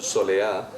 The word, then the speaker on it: Soleá: Cantao por Solea. La Soleá est dans sa prononciation andalouse, Soleá, est en réalité un